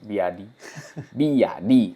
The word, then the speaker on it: BYD: telah resmi menjadi produsen BiD Biadi bacanya biadi ya biadi ya.